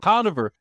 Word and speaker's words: Conover: joker Adam com Kover that's how you say it Conover they said it wrong guys is a Conover Adam Conover he had